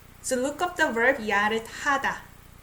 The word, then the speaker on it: 야릇하다: So look up the verb 야릇하다. Like I say, it sounds like T.